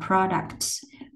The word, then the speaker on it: products: Ok, sản phẩm mình đọc là products.